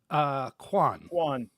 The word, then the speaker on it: Quan: I don't want to mispronounce his name. Oh, Miss Quan. Kwan.